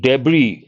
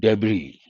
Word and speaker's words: debris: And debris, S is silent, this is also a noun. Small parts scattered all over, we use the word debris.